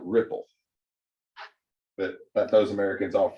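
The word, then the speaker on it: Replit: look this up once apparently the pronunciation for the letter E in Czechoslovakia is the I so the people who created it call it Ripple but but those Americans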